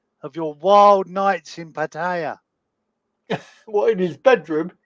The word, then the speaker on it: Pattaya: I would say it's Pattaya. Is that how you say it? Pattaya? Yeah, there's no eyes in it. Posh way of saying it. There's no eyes in it for Pattaya. Pattaya. Or you could say Patya.